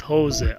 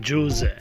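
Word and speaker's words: José: the wrong names man everybody says my name wrong everybody calls me jose i'm not jose i'm jose mourinho puts emphasis on hard pronunciation of his name he clearly does not like the spanish pronunciation of his name calling him jose but he wants everybody to call him jose tottenham is currently sixth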